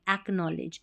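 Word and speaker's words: acknowledge: के एन ओ डब्ल्यू को नो पढ़ेंगे के साइलेंट होता है के एन जब भी साथ में रहता है तो एक और यहां पर देखिए ले ज डी जी ई को ज पढ़ते हैं एकनॉलेज एकनॉलेज का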